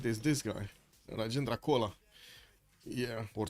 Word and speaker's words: Chola: There's this guy, Rajendra Kola. Yeah, or Chola. How do you pronounce this? Is it Chola or Kola? Kola.